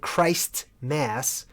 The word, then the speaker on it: Christmas: people don't pronounce it Christ mass Christ mass Merry Christ mass you know what I mean they say Chris like there's no T so it's funny because